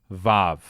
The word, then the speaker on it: vav: should probably acknowledge that this is supposed to be pronounced like vav because Hebrew doesn't have a W sound until it did.